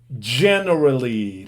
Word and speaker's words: generally: y sigamos con generally generally recuerden aquí la g no es general no digan ye no es una y no es y es se acuerdan como cuando